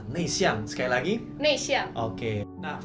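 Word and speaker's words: 内向: Nah, kalau introvert kita bacanya Nei Xiang. Nei Xiang.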